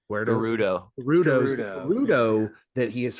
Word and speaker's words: Gerudo: But the guardo gu I saying it right. Gerudo.